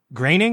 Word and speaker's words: Groening: like the gags that graining is that how you pronounce his name i only see it written in credit yeah yeah yeah that ingraining even though it doesn't look like that matt groening has like